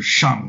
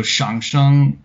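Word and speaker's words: 上: written with the character shang like on top of shang or on but in middle for the middle chinese tone name it's pronounced with the third tone so so shang is the origin of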